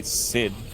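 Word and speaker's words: Cid: people that fear me call me Sid rhymes with Squid I was squid music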